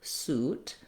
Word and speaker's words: suit: In this word, the oo sound, the oo vowel, is spelled with the letters UI. And so thinking of the pronunciation, it might help you to think oo suit. You can also pair another word like new and suit together because they have the same vowel.